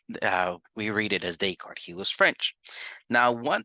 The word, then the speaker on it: Descartes: mine he was French so the way we read this is descart I know people want to read it differently discardies or something like that but no he's uh we read it as Descartes he was French now